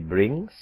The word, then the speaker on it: brings: Coba Anda lihat yang bring, memakai S, dibacanya bukan brings, tapi menggunakan Z. Z. Brings. Brings. Brings. Bukan brings. Brings. Brings. Bukan. Tetapi brings. Brings. Brings, berakhiran z, z.